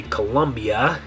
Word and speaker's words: Colombia: mess it up because in English we say Colombia, Colombia. But remember from our video about the vowels that both the O's, O only makes one sound, it's always the same sound, right? So both those O's are going to be an O sound, O, O, right? So all the vowels there, you'd have O, O, Ia.